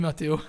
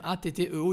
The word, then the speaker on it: Matteo: Salut Mathéo. Il y a quelqu'un qui t'a dit salut Mathéo. Oula, vous l'avez détruit son nom. Alors son nom s'écrit Matteo. C'est à l'italienne, c'est Matteo.